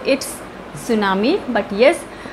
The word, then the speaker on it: tsunami: कर देते हैं इस नाम ई सॉ इट्स सुनामी बट एस way where supposed to right this